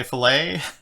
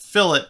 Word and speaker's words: fillet: be wanting to say filet but i've been instructed by a reliable source that fill it is the engineering way to pronounce the word and filet is the cooking way so i don't know